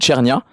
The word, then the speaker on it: cernia: Et euh il y a un poisson en Méditerranée qui s'appelle le merou et en italien, ça se dit chernia.